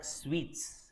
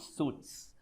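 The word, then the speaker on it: suites: do you pronounce this it's called sweets not suits suit is your coat suit sweet is a is a type of room sweet as in how you say this ladu sweet just like that the pronunciation is one and the same fine okay so it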